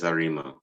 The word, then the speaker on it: Arima: Okay, now correct me if I'm wrong, because I don't want to pronounce it wrong. You're from an area called Arima? Yes, Arima.